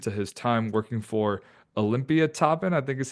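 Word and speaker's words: Olympiatoppen: We are going to talk all things about his journey from everything I mentioned to his time working for Olympia Toppen, I think is how you say it, the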